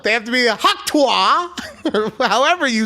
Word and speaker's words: Tuah: It's Tuah.